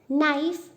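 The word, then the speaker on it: knife: So same for നൈഫ്, K is silent.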